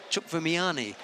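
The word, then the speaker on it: Chkhvimiani: So I said to him, well, how do you know to pronounce the I at the end of Chukvimiani?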